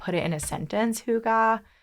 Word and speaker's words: hygge: Okay, so they have this term, and I don't know if I'm pronouncing it correct, but I think it's pronounced hygge.